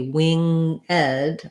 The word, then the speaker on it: winged: or wing ed um we can this is one that we can say with um with two syllables instead of just one so then it would be wing ed or winged probably they